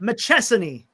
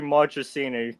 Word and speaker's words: Marchini: Machesan. Oh, you were close. It's It's actually Marchini because I you go off the month of March and then you add that.